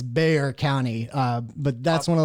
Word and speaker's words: Bexar: to you try and figure out how to pronounce Bayer. It's not Bexar, it's Bayer County.